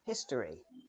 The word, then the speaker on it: history: ready let's look together in history the o is often not pronounced history history history history